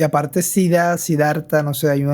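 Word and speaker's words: siddha: se la considera una sida como como así literal suena suena como la enfermedad pero se escribe s i d d h a una sida que es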